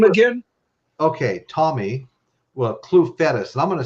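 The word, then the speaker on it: Clufetos: YouTube and uh and ask for a Tommy clue fetus video you talk about a wild man on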